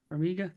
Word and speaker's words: Farmiga: Farmiga.